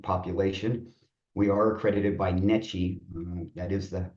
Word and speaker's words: NECHE: We are accredited by NECHE, that is the pronunciation of the word.